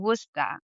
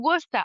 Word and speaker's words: Worcester: And I was like, "No, it's Worcester." So, yeah, the pronunciation. Yeah. It's one of the silliest spelled words in English, honestly. Like, what is the C and the E doing there?